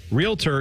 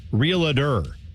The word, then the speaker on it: realtor: is common man dude realtor is pronounced realtor not realer you sound like George